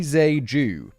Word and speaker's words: Tze-keung: Victor, I've got a pronunciation guide at the bottom here. Victor Lee Tze-keung.